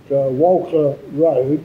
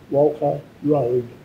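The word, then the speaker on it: Walcha: But then on other stations, smaller stations such as Walker Road, which is between Tamworth and Armidale. How do you spell that? W-A-L-C-H-A, Walker Road.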